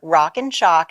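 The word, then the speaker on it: Rockin Chalk: all that yeah sure rock and chalk and now I have to spell it because it sounds like a shock but it's like a chalkboard rockin ro ckin ch ALK dot-com and you can just you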